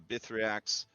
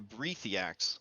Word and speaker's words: Brethiax: 60 feet of a Bithriax. Sorry. A Brethiax. I always keep pronouncing his name wrong.